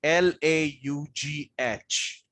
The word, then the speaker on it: laugh: Now fish is, let me talk about how it can be pronounced as fish. Now, can you see the word there? Laugh. Okay. L-A-U-G-H.